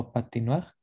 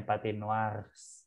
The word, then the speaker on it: patinoires: Je vais au patinoire. Patinoire. Jadi kalau udah jamak, nggak peduli feminang atau maskulang jadinya O. Patinoire bacanya sama ya? Sama. Bukannya patinoires. Enggak. Karena S di belakang jadinya silent S.